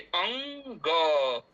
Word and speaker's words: अंग: अ जोड़ म जोड़ ग जोड़ अ तो पहले म का उच्चारण हो रहा है इसलिए अंग ऐसा उच्चारण करेंगे। अंग अब कभी-कभी ऐसा हम लोग कर कर देते हैं। ऐसा लगता है कि ग पहले बोल दे बाद में बोले तब ये अशुद्ध उच्चारण हो जाएगा।